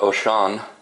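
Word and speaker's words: Wouxun: This one is the Wuxin, is how it's spelled, but it's pronounced Oshan.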